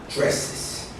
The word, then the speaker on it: dresses: And then the pronunciation changes with an extra syllable. Dresses. Yes, it sounds like it's a repeated, but that's the correct pronunciation.